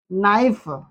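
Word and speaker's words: knife: मैं आपको बता दूं जब के के आगे तुरंत क्या आता है? एन आता है तो उसका क्या होता है? के वहां पर साइलेंट हो जाता है। देखिए नो के लिखा है देखिए नो नाइफ।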